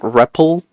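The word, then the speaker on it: REPL: It's um more of a what how do you pronounce this thing? Ripple. Read a val print loop. Rep. You got to pronounce it as ripple. There's no other way to pronounce this, right?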